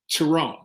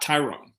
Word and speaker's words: Tyrone: hello i'm tyrone power he says it we hear him say that out loud tyrone not tyrone but go correct 50